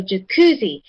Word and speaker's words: jacuzzi: So, jacuzzi. Jacuzzi. So, the C is the second syllable. That's the one that receives the stress.